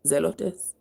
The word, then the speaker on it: Zelotes: and Simon called zelotes I to pronounce it zelotes z e l o t s and Judas the brother